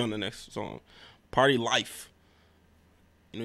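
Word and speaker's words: Lyfe: Party Life. You know, you gotta say it like life, you know? It's got the L-Y-F-E's.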